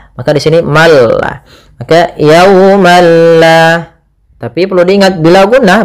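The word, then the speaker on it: يوما لا: Maka di sini malla maka yaumalla. Tapi perlu diingat bila ghunah berarti tidak disertai dengan gunah sehingga langsung saja tidak boleh ditahan, tidak dibaca yaumal la tidak. Tapi langsung saja yaumalla.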